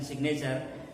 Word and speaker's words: signature: don't call it signature the way you made g silent you are not keeping g silent in signature his sign his signature